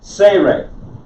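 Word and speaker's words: tsere: in father very good this is say ray this is the e type vowel and it is a long e but like spanish you mean spanish speaker and then we got two anybody else like spanish the the e is pronounced like in english a y okay think senor so this is say re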